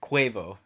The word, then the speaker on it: Quavo: my number four alright quavo alright got the name right instead of quavo right rhyming with guava wow are you me